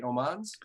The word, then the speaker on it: Omans: That's how you say it, right? Omans? Yep. That sure is. Oh, well, Omens. Just Omens.